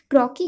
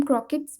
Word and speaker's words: croquet: की गेम होती है उसी तरीके से ये क्रॉकी गेम होती है, जिसे हम क्रॉकेट्स भी बुलाते हैं, लेकिन इसका रियल प्रोनाउंसिएशन क्रॉकी मैले है, लेकिन हम उसे क्रॉकेट मैलेट्स भी बुलाते हैं।